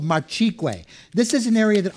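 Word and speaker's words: Marchigüe: the area specifically called marqu This is an area that I would be looking out for on the label it's spelled m a r c h i gue this is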